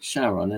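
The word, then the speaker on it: Charon: call it Shaon and there is a reason when that moon was discovered back in 1978 uh by James Elliot um who was at the uh US Naval Observatory um he uh he wanted to name the moon after his wife. Uh it was just very touching and his wife's name was Charlene, spelled with a ch.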